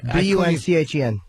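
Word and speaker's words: Bündchen: I gave you the first syllable even. I have no. B-U-N-C-H-E-N.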